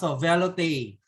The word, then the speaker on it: velouté: Pronounced velouté.